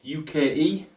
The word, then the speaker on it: Uke: UKE, but pronounced Uke.